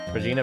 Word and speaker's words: Regina: It's Regina, yeah. But it can be pronounced the other way as well. So fuck you. I googled it. Both pronunciations are technically correct depending on the circumstance. But I'm pretty sure they meant Regina for this one.